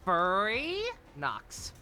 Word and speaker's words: Furynox: It's pronounced Furry Nox.